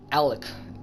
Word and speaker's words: Alek: it's spelled uh his his name is spelled a l e k Alec yeah I'm sorry but